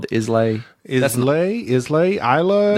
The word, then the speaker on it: Islay: Islay? Isla? It's Isla. Isla? It's not Islay. That's how it's spelled, but it's pronounced something different.